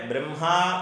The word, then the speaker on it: ബ്രഹ്മ: അവിടെ ബ്രഹ്മ എന്ന് ദീർഘമില്ല, ബ്രഹ്മ. പരം ബ്രഹ്മ അല്ലെങ്കിൽ പരബ്രഹ്മ രണ്ടും ശരിയാണ്.